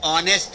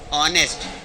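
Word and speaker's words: honest: जो कि गलत है, क्योंकि इसका प्रोनाउंसिएशन ऑनेस्ट है, क्या है, ऑनेस्ट।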